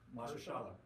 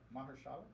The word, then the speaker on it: Mahershala: Mahershala. Mahershala.